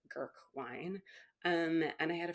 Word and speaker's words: Grk: It's spelled GRK, Gurk.